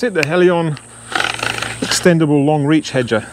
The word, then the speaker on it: Helion: a little bit strange but this is the Helion that's how you pronounce it the Helion extendable long reach header it's not extendable but